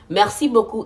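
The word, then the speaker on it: merci beaucoup: do you say thank you Mercy or Mercy Mercy Boku is thank you so much Mercy thank you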